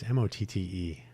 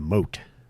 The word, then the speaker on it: Motte: Am I saying Mott correctly? It's not Mode, is it? It's Motte. But, oh yeah. Yeah, pronunciation is Mott. If you look at an image, if you look at the Wikipedia page, it looks like it might be a moat, but a moat is Moat. So the Mott is the defense.